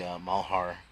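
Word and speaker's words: Malheur: that was out there covering the mahara that's how you pronounce it doctor Mao Heart incident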